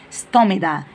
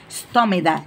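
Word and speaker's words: stomata: ستوميدا. اسمها ايه؟ ستوميدا. تاني، يبقى الاوبننج سمول اوبننج اون ليفز، يعني فتحات صغيره على الليفز، ليها اسم يا ميس؟ اه ستوميدا، هي بالتي بس بتتنطق بالدي.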